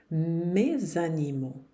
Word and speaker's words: mes animaux: Agora, com o substantivo que começar com uma vogal depois, eu vou ter que fazer a liaison. Mes animaux.